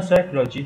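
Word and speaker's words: psychology: بي مو بي اتش ولا يلفظ حرف البي اذا جاء في بداية الكلمة بعد حرف الاسم في السايكولوجي وايضا لا يلفظ في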